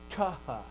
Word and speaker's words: chi: But that's not how they were pronounced then. Okay? They were aspirates. And an aspirate is a combination of an unvoiced plus aspiration. So, chi is really just a kappa and a ha. Kaha.